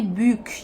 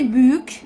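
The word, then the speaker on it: büyük: زي مثلا اقول كلمه بيوك يعني كبير. كلمة بيوك الحرف الأو مثلا بيتنطق أو، فبقول بو. طب بكمل الكلمة فبتبقى يوك، فبيوك. ما ينفعش ان هي تبقى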